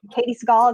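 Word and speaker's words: Katey Sagal: Katie Seagal, is that how you say her name?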